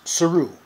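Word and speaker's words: Saru: see Doug Jones as suu that's the way he pronounced it in interviews suu alien science officer he's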